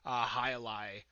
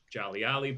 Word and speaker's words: Jai Alai: What are some misnomers, misinformation that you feel people might have about Cigar City or beers like Jai Alai that kind of get spread out into the ether of the beer world?